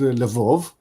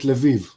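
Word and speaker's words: Lviv: city differently for example there is a city that somebody some people are called Lov some people will call it leiv and I've been calling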